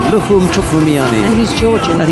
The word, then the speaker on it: Lukhumi: Our stadium announcer, who is Georgian by the way, didn't pronounce the I at the end of Chkhvimiani's given name, Lukhum. So we've been saying Lukhumi, and he just said Lukhum.